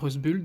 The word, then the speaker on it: Rusbult: et amélioré en 2001 s'est fait par red bull donc c'est une mode ça se prononce comme ça c'est une dame incroyable